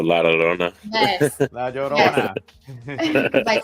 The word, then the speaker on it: La Llorona: La Llorona. Because I said like La. She's like La Llorona.